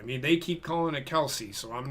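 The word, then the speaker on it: Kelce: Taylor Swift's box no he's probably in Travis Kelsey's box yeah but it's Travis Kel's box anyway go ahead and actually we've been mispronouncing his last name it's Kels it's Kelsey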